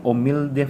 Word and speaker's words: humilde: There is letter H, but it is pronounced silent H na siya.